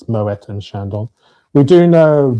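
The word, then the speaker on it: Moët: You do pronounce the T by the way. It's Moetta and Shandon.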